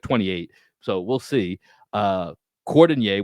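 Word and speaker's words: Cordinier: Cordonier, which rhymes with Fournier, Yeah.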